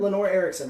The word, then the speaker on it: Lenore Erickson: How about pronouncing your name? Lenore Erickson, right? Yeah.